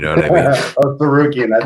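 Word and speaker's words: Tsarukyan: Oh, Sarukian.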